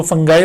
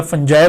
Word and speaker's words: fungi: भी पढ़ते हैं, तो इट डजेंट मैटर, आप इसको फंगाई पढ़ें या फंजाई पढ़ें, कोई प्रॉब्लम नहीं है। सिंगुलर अलबत्ता ये यूनिफॉर्मली फंगस ही पढ़ा जाता है, लेकिन प्लूरल वर्ड में दोनों प्रोनाउंसिएशंस राइज हैं। कुछ लोग इसे फंगाई और कुछ इसे फंजाई पढ़ते हैं, तो हमारे उस्तादों ने